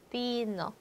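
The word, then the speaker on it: vino: F에는 F, 영어 F 발음했는데 스페인어의 오베는 영어의 V 발음하지만 않고 그냥 B랑 발음이 똑같죠. 비노, 비노.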